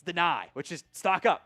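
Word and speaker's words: Dani: Malachi Fields, Antonio Williams, deny Dennis Sutton. It is, by the way, it is pronounced deny. It's not Danny, it's deny, which is stock up, right?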